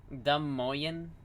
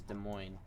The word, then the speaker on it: Des Moines: also know my name dumoyan des moines is this is called it's how you pronounce is des moines this is just how you actually pronounce it okay jackass but you